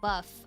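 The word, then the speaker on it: bœuf: Boof bourguignon. Boof. Bourguignon. Bourguignon. What do you mean, Blair? Or tartiflette. Bourguignon. The first word is just pronounced buff.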